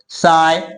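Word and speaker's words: sigh: अगर किसी वर्ड के लास्ट में जी एच या जी एस टी आई हो तो वहां पे जी एच का उच्चारण नहीं किया जाता।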